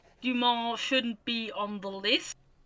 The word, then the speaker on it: Dumas: It's pronounced Dumas, but okay.